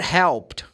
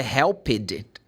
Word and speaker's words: helped: a very good example if you add one more syllable like it do you know what's going to happen uh it's very likely that people will not understand the word or what you are saying so you can